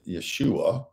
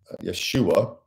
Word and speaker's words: Yeshua: in the Hebrew style Yeshua which means the Lord saves you think of Yahweh or Jehovah you have Joshua uh the J having the Y sound in the Hebrew uh Yeshua which for Christians is